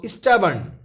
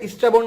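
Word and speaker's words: stubborn: Choose the synonym of স্টাবার্ন। অনেকে স্টাবর্ন বলে কিন্তু এর উচ্চারণ হবে স্টাবার্ন।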